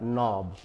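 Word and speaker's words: knob: उसे किया जाता है तो वर्ड हो गया नॉब यहां के साइलेंट हुआ इस वर्ड में नॉलेज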